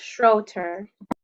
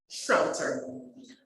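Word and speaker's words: Schroeter: is Schroeder structure oh so are you from Mona Heights primary I am and it's pronounced Schroeder oh I apologize my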